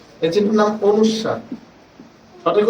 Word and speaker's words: অনুস্বার: এই চিহ্নের নাম অনুস্বার। সঠিক উচ্চারণে পড়াবেন।